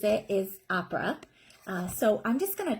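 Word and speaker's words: Apres: but it's spelled a-p-r-e-s you may hear it pronounced a couple different ways a press a pray i've heard it all different ways but the way that the maker pronounces it is opera so i'm just going to tell you about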